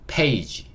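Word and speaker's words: page: 그러면 p a 만나서 페이 그렇죠 는요 g 페이지 페이지 이렇게 읽을 수 있고 페이지라는 거는 어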